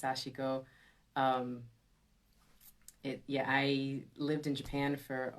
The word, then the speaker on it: sashiko: Yes, sashiko. Yeah, a lot of folks. It's a tough word if you're not familiar with Japanese, but it's pronounced sashiko.